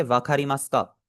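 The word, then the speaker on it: わかりますか: वखारीमास का, इसका जो एंड वाला ऊ है, ये एज ऑलवेज हम इससे साइलेंट करेंगे, क्योंकि जब भी हमारा मास के अंदर ऊ आता है उसे हम हमेशा ही साइलेंट रखते हैं।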